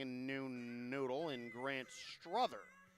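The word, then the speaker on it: Strother: new noodle in Grant Struther. Struther, S-T-R-O-T-H-E-R, if you're playing the home game, pronounced like brother, is making his 3rd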